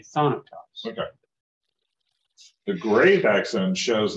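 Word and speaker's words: θάνατος: a little so yeah you wouldn't say Thanatos yes on a toss you'd say sonatas okay the gray vaccine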